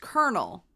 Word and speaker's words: colonel: It is spelled like colonel and it's pronounced kernel.